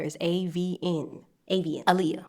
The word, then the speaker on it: Avian: Avian, like the species of birds, like the bird species. An acronym, the letter is AVN. Avian Alia, like the late singer.